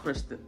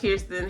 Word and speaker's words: Kirsten: Kristen, okay, my opinion has now changed about Kristen. Okay, I keep saying this man's name wrong. My opinion about Kirsten has now shifted, okay?